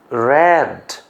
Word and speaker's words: read: Present উচ্চারণ রিড, past উচ্চারণ রেড, past participle রেড।